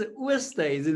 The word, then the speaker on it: Oosthuizen: Oosthuizen is how you would pronounce it.